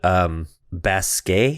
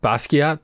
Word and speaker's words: Basquiat: fuck it up, but Basquiat? Oh, Basquiat. Basquiat. You're not pronouncing it right. Basquiat, the artist? That's not how you say it? Not according to the internet. Really? No, it's Basquiat.